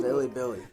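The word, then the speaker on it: Bilibili: Billy Billy.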